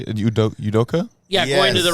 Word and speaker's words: Udoka: Udoka?